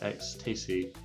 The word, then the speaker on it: Exstase: So this is the Exstase, or I think as they want me to pronounce it, Exstase. So a bit like how you would say tasty, I guess.